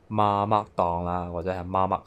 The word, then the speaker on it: Mamak: something to eat, you can go to nearby Mamak stalls How to pronounce, "MA-MAK", stall.